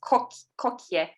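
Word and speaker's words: koekje: Pronounced kokje. And it means little.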